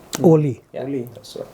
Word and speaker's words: ollie: It's called an ollie. Oli. Yeah. Ollie. So How do you spell that?